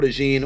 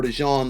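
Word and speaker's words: DeJean: Bowl champion, Eagles legend, Cooper Deene or Cooper Dejon. The way you pronounce it is going to be dependent on if you're an Eagles fan or not, but 6' tall, stock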